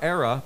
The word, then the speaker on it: Era: And speaking of All-Star, Era, pronounced like Sarah, without the S, just like the business school.